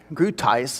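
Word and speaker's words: Groothuis: to think here's what doug gruteus grutis is how he pronounces it says in his book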